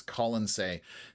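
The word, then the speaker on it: Colonsay: He I'm saying Colin, but it's Colin say.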